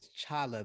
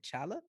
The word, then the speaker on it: T'Challa: this full name is chala the t is silent but you can you can call me chala okay so uh great